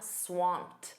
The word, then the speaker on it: swamped: You can also say, "I'm swamped." Notice that pronunciation. That e d is a soft t.